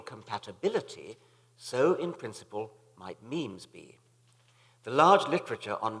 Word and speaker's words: meme: the French word me it should be pronounced to rhyme with cream just as genes are selected for their Mutual compatibility so in principle might memes be the large literature